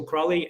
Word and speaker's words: Crowley: with a Crowley so Crowley everything is askgelica so this is quite interesting is Crowley also in in English is pronounced the same Crawley c-r-o-l-l-y and it's a Gaelic